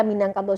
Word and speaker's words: Minangkabau: penelitian kawan-kawan bawa itu orang Portugis menulis Minang Cabo ini saya membacanya sesuai ejaan Ya tapi ini mungkin bahasa Portugis tidak Portugis menyebutkan minyak cabut Tapi namun tetap dibaca Minangkabau mungkin karena zaman dulu